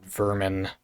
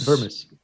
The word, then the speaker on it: Vermis: It's called not Vermin, but it's called Vermis.